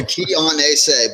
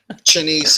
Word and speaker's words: Chianese: Like a Chianti wine. If you've never heard of Chianti wine, it's an Italian wine. So yeah, Chianese. But my boys play football, so it's getting cut down to 2 syllables at times, and Chinese is fine.